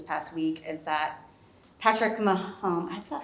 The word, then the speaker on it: Mahomes: the news this past week is that patrick mahomes is that how you pronounce it yeah mahomes patrick mahomes was five either five or six